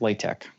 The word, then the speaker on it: LaTeX: is la te x looks like latex but pronounced leh Tech okay maybe people have